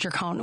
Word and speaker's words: Gercon: I say Gercone, but it's Gercone. It is Gercone. So neither. Am I supposed to say Gercone? So no, it's I pronounce it Gercone.